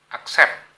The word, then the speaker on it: accept: Accept. Bukan accept, bukan accept, bukan itu, tapi accept. Accept. Jadi T itu seakan-akan hilang. Seakan-akan hilang. Huruf akhiran T itu seakan-akan hilang. Accept. Jadi bacanya sampai P.